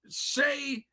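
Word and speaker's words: Shai: Shane Gilgeous-Alexander. Shane Gilgeous-Alexander, whatever. But they call him Shea, right? No, I'm kidding. Shea Gilgeous. His name's Shea Gilgeous.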